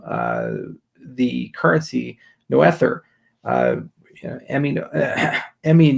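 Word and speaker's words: Noether: cool to uh to say no ether because that's actually phonetically how you spell it uh as the currency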